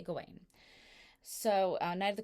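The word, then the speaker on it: Gawain: I recommend is sirain or some people call pronounce his name gawan both are correct I say gain so uh night of the Goddess by John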